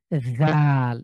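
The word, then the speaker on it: ذال: এটাও এভাবে উচ্চারণ করব জীবটাকে বের করেন প্রথমে সামনের যে দাঁত রয়েছে সেটার সাথে লাগান এবং পাতলা করে বাতাস বের করে জাল হা অবশ্যই জিব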